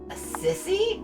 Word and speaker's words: Assisi: of assisi in 1776 a sissy a sissy we're learning hey i went to catholic school for six years it is not pronounced the sissy are you sure i